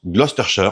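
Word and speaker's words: Gloucester: Oui, ça là ça se prononce Gloster en Angleterre.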